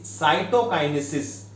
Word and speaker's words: cytokinesis: What is the pronunciation? Karyokinesis. And the second step, it is cytokinesis.